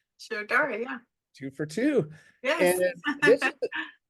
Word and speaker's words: Shirodhara: talk about sharar if I'm saying it right sharar yeah two for two yes a a a